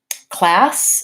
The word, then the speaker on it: class: Class, again, vowel a.